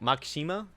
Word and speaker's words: Makishima: his name uh uh makishima i think they pronounce it makshima is i think is how they pronounce it in japanese but bro when he